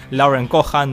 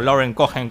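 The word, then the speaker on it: Lauren Cohan: dicen que pronuncio mal Lauren kohan o Lauren cohen como se quiera decir su nombre pero bueno lo que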